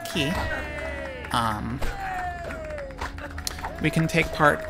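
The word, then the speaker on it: Quay: since it is night time here in bauerstone key yes it is pronounced key I pronounced it play my whole life but it is in fact pronounced key um we can take part in the fist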